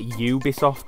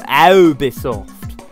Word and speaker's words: Ubisoft: One thing that annoys me, and I ain't taking the mick out of Americans, they say Ubisoft wrong, it's you. And they say something like, ooh, Ubisoft.